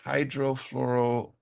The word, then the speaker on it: hydrofluoroolefin: The hydrofluoroolefins, olefins.